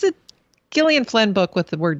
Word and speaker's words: Gillian: started a Gillian, and it bugs me that she pronounces it Gillian instead of Jillian. That just seems pretentious to me.